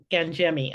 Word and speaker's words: Gangemi: your last name correctly Gangi okay I wasn't sure if it was with a hard C or G or soft G um so welcome I'm